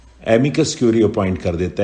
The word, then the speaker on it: amicus curiae: Next outline है एमिकस क्यूरी, 2 word हैं ये भी, AMICUS CURIAE, आपको स्पेलिंग भी याद करने पड़ेंगे कई केसेस में।